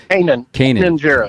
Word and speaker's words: Kanan Jarrus: Kanan Jarrus.